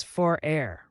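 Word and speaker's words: frère: in guiding the family Fray stands for brother say it as far a rhyming with Fair Brothers can be great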